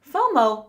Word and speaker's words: FOMO: have you heard of f m o fomo fomo pronounced F MO is a common online acronym which